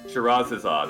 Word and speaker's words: Scheherazade: The next game you're doing, since I butchered it. The Magic of Scheherazade. Scheherazade.